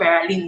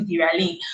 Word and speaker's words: Viraline: And then he says that that's the correct way to pronounce my name, that it's not Veraline, it's actually Viraline.